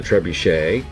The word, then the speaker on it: trebuchet: the trip on the trebuchet sometimes called the trebuchet but in the French pronunciation it would be trebuchet there's also the ballista